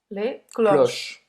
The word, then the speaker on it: cloches: Então, vai terminar a pronúncia no CH, né? Les cloches.